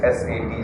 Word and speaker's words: Sat: What you write in English is S-A-T, Sat. Sat, of course, if you pronounce it, Sat.